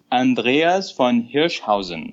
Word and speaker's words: Andreas von Hirschhausen: disclosure his name is let me say it in a very german way andreas von hirschhausen andy did i say